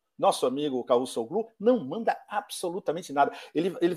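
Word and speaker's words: Çavuşoğlu: é o exatamente, Mevlut Cavusoglu, né? Eu não sei como é que se pronuncia. A pronúncia é exata. Cavusoglu. Cavusoglu. Exato. Você não pronuncia o V, exatamente.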